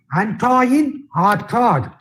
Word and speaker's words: Antoine Artaud: For example, Antoine Artaud, he is spelled as Artaud. You see, Antoine Artaud, but actually it is pronounced as, I don't know French, I have heard people pronouncing it that way, Antoine Artaud.